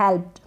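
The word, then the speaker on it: helped: ये जो एल है ना, इस एल का आधा ल बन गया और पी का आधा प बन गया। यहाँ आधा ही उच्चारण हो रहा है, जो भी स्पेलिंग आ रही है इस ईडी से पहले।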